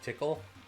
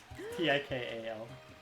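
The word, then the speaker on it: Tikal: How do you spell tickle? Do you spell it like tickle? Yeah. Spelled the same way. T I K A L.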